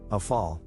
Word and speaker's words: Rafale: The Dassault Rafale, French pronunciation, ʁafal, literally meaning gust of